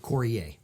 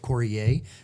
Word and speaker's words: Coryea: Coryea.